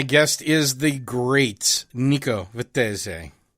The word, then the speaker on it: Vettese: the great nico vittez i like just like to overemphasize the italian thing because i pronounced your name so poorly when we first met each other nico vitte what was it or something i used to say i don't know some terrible american accent it was beautiful it